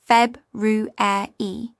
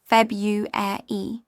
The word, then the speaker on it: February: British feb ru e clear four syllables. American febu often shortened to three syllables.